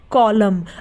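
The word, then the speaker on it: column: N silent रहता है जैसे कॉलम सी ओ एल यू एम एन कॉलम अब कॉलम में एन से पहले क्या ए रहा है एम ए रहा है इसलिए यहां पर एन क्या है साइलेंट है यानी की वह है तो लेकिन वो बोला नहीं जा रहा हम क्या बोलते हैं कॉलम हम कॉलम तो नहीं बोलते हम क्या बोलते कॉलम तो यहां पर एन क्या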